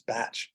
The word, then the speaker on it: Bach: Edward Bach, he was actually Welsh, and the Welsh pronunciation is not like the German pronunciation, it's Bach. But I still refer to the remedies as the Bach Flower Remedies.